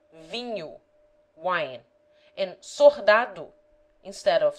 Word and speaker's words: vinho: In Minho, for example, the people generally say binho instead of vinho, wine, and sordado instead of soldado, soldier.